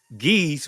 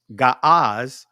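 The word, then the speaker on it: Ge'ez: Before the 4th century, geese, which is actually the pron proper pronunciation is ga had not made use of vowels.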